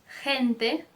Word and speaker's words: gente: Por exemplo, gente, gente, gimnasio, gimnasio.